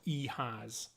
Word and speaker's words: EHAS: future um other information ehas is an acronym for everyone has a story it's pronounced he has uh please check out